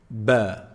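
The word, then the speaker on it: ب: The second letter, ba. Ba. How do we say ba? Ba is pronounced when you bring both lips together.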